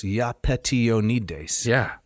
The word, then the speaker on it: Iapetionides: It is 6 syllables, Iapetionides.